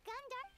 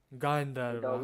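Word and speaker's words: Gandharva: Paimon thinks it's about time to head back to Gandhar. गांधर्व, हाँ ये क्या? गंधर्व को उसको गांधर्व ऐसा कुछ वियर्ड प्रोनाउंसिएशन दिया इन्होंने.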